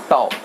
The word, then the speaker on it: tau: इस सिंबल को हम लोग बुलाते हैं टाउ. टाउ बुलाते हैं इसको, समझ लीजिए. TAU, that's the spelling, टाउ.